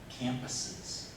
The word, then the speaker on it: campus: One of the words was campuses. You said compass, for finding direction. You say compass, but it's campus.